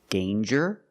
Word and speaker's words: danger: Example, danger and anger. So with danger, we hear the J sound. Danger. There's no nasal sound. There's no it's a regular N.